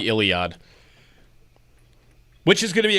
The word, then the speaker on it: Iliad: I said Idiod, not Iliad? Yeah, you said Idiod. Oh, I mispronounced.